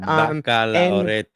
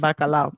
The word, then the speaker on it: baccalaureate: I can't ever pronounce that. Baccalaureate. I said bacalao.